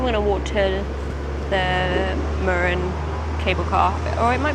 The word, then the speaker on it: Mürren: I've been saying it wrong, it's Mürren, not Mürren.